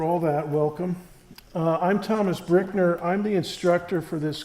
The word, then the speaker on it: Brueckner: It's pronounced Brickner, like bricks.